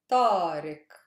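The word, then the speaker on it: طارق: try it tariq road now this is a super heavy syllable that's why now my stress is on reek tariq next one living which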